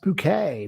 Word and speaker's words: Bucket: It's pronounced bouquet. Well, it's not really. It's bucket, as we all know.